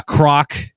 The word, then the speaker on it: Krawk: good friend of mine here from X uh Croc um I was calling him krock for the longest time but it's actually uh pronounced and spelled Croc right so k r